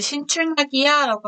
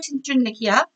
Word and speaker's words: 신출내기: 아라고 하죠 그때 내기 그는 신출 나기야고 하지 않고 신출내기 동댕이치다네 시험지를 동댕이치다 내동생이